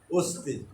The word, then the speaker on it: অস্তি: অস্তিবাচক হবে না, বানানটা হবে অদন্ত শয়তয় হর্ষি, কিন্তু ওই যে হর্ষিকার আছে বলে ওই অটা হয়ে যাচ্ছে কি? অস্তি।